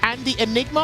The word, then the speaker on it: Andyenigma: Andy, I'm reading your name a certain way, but I need you to tell me how to pronounce it and what does it actually mean. Is it Andy Enigma, or am I saying it wrong?